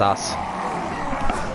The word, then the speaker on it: aus: It's not pronounced eins either. It's pronounced os. Os, which is the same as off. Ein is on. Os is off.